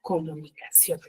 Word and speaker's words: comunicación: Por ello yo tildo la palabra comunicación, porque tiene la mayor fuerza de voz en la última sílaba y termina en la N.